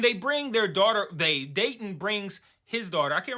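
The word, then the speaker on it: Deighton: um a guy named Dayton and I know you guys like Dayton like Dayton Ohio the captions spell it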